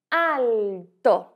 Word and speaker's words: alto: Veja que em português nós dizemos alto. Este L tem um som de U. Já em italiano isso não acontece. Em italiano nós dizemos alto.